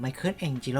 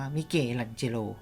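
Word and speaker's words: Michelangelo: โลก โดย อัจฉริยะ ศิลปิน ไมเคิล เอง จิ โร่ ซึ่ง จริง ๆ นะ ครับ ที่ ออก เสียง ว่า มี เก ลัน เจ โล นะ ครับ ซึ่ง ลูก แกะ สลัก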